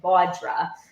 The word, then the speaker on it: Vodra: The Jersey girl in me wants to say Vodra. It's Vodra. It's pronounced way more beautifully.